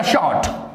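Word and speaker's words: short: शॉर्ट। Are silent रहेगा, शॉर्ट।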